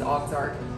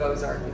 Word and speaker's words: Ozark: french settlement which a ux arc and everybody pronounced comes and says oxart instead of ozark so i took the ox part and i